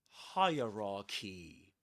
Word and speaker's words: hierarchy: The thing is that the the word hierarchy can be divided into three parts which rhyme with these words. Hire as when we say hi for example, right?